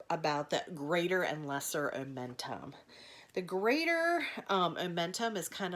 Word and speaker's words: omentum: to say what the omentum is she may even give you a rhyming thing I heard her one time say it rhymes with bow bentham so that is your clue to say omentum and hopefully you will